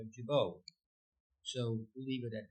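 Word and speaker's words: Gibault: Some pronunciations pronounce the T. Uh I have trouble just saying Jabbo. So we'll leave it at that. Father Pierre Jabau.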